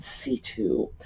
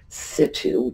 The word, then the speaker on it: situ: know, an archaeological adventure in situ or situ, depending on how you want to pronounce it. That's our word for the day. In situ. It's actually two words, I-N-S-I-T-U. Situ comes, or situ, I've heard it situ as well, comes to us straight from Latin.